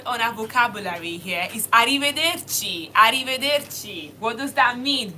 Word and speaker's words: arrivederci: Then the next word on our vocabulary here is arrivederci.